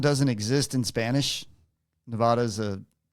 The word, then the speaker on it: Nevada: Nevada is a Nevada, however you want to say it, is a derivative of Spanish language. And the a is pronounced ah in that.